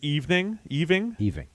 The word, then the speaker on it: Aoibhinn: familiar with Gaelic names, the name Eving, just in your head, think about how you would spell that. Well, and then look at what the actual spelling that I'm looking at, which is AOIBHINN.